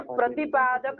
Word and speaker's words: प्रतिपादक: प्रतिपाद्य प्रतिपादक भाव संबंध होगा। लिख लीजिए, कौन संबंध होगा? प्रतिपाद्य प्रतिपाद्य, ध्यान दीजिए कोई गलत उच्चारण कर रहा है। प्रतिपाद्य प्रतिपादक भाव संबंध होगा।